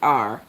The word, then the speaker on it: Gerar: The name of that city was, I don't know if they pronounce it Gerar or Gerar, but it's Gerar.